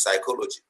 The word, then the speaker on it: psychology: and the person said the p is not pronounced it is psychology and then I came